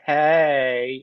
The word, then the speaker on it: Hey: can we just all agree that it's pronounced hey hey so uncool if I